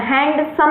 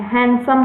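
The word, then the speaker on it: handsome: हैंडसम यूज़ होता है, हैंडसम नहीं होता है, हैंडसम होता है। ठीक है, हमने कहा है आप अपना उच्चारण सुधारिए, डी साइलेंट होता है।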